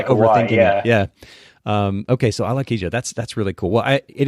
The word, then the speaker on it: Alakija: So yeah, it is exactly as it's spelt is exactly as it sounds. So it's Alakija, which is Alakija.